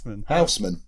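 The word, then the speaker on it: Housman: thumbed how did you how did you pronounce houseman then houseman as you just did how small that's good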